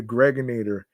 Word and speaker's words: Gregonator: I'm your man, G Money Stacks, aka the Gregonator. Of course, rhymes with Baconator, rhymes with refrigerator, generator.